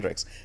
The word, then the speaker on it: Hendrix: Cuz when I say my name is Hrix, it either goes two ways. Oh, like Jimmyi Hendris. Or oh, like the gin.